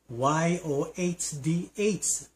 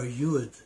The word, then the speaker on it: yod: This is the 10th letter of the Hebrew alphabet and it is spelled y O D but the pronunciation is yod or yud.